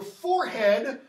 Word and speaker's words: forehead: Is it your forehead or is it your forehead? Because historically it rhymes with horrid.